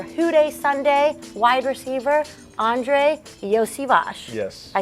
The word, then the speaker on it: Iosivas: it yeah Andre Yos Yos some people know me as Yoshi but the sh part comes at the end of my name actually so okay so